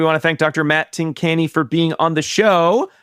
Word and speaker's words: Tincani: But Tincani is correct.